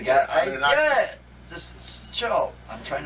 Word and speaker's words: Anunnaki: Yeah, you spell that. It's right here. Just okay. What did I do? Anunnaki. Annunaki. It's Anunnaki.